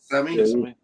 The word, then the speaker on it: Kissimmee: How do you say that? Kissimmee. South. Kissimmee. Yep. There you go.